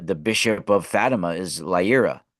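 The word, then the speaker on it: Leiria: that's the the the bishop of Fatima is Lia right lia lia it's spelled uh l e i r i a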